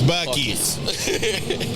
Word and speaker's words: Buc-ee's: It's Buc-ee's.